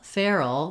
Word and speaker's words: feral: more like two syllables in feral feral we actually do want to have two syllables feral all and so you have a little bit more time a little more length also because I'm saying air Fair that's going to be longer that's a diphthong whereas the ER fur is just one sound a monophthong and this is the